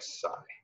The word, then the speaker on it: psi: S okay and so the way that you pronounce this is like Sai okay so if you